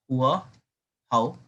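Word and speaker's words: Hòa Hảo: बेटा हुआ हुआ मूवमेंट, अब बेटा इसको प्रोनाउंस करना, हुआ हाउ।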